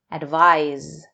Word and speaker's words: advise: an S Sound Advice advise with an S is pronounced with a zed sound advise let's look at these